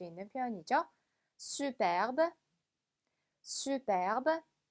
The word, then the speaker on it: superbe: superbe, superbe. 자, 이 단어 저번에도 한번 나왔긴 했었죠. 그죠? 발음이 중간에 Ü 발음에 유의하면서 발음해 주시면 됩니다.